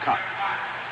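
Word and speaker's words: Kaat: His last name is spelled K-A-A-T. Pronounced Cut.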